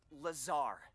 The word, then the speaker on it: Lazar: and it's sales liaison it's Lazar actually Accent on the Czar but yes I'm your